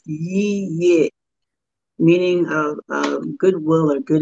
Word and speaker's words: Yeyia: Two syllables, Yeyia.